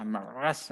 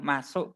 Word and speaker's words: Maersk: Tulisannya MAERSK ya, bacanya Mas gitu aja, nggak usah meres, nah, kan susah ya.